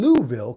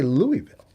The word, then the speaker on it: Louisville: Tennessee Columbus Georgia and louville Kentucky that's how they say it in Louisville they don't say Louisville com we did this